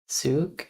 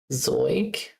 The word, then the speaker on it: Zeug: Zug is stuff though, nothing. Nice. Drive stuff, fly stuff. Zug. That's pronounced wrong because EU is Zoig, Zoig, Zug, Zoig, Euler, Euler, Zoig, Flugzeug, Fahrzeug.